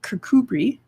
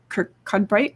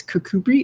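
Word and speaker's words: Kirkcudbright: was the cavers of kirkubri which looks like kirk cudbright when you spell it out but it's kakubri it's in scotland this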